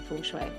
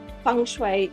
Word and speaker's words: Feng Shui: Now, there are different ways of even pronouncing Feng Shui. There's Feng Shui, Feng Shway, Fung Soy, Fung Shway, uh and when people can't remember how to say it properly, I say it's like Fung Shway is uh an easy